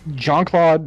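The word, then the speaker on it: Jean-Claude: don't get it like john claude not john cloud jesus christ [ __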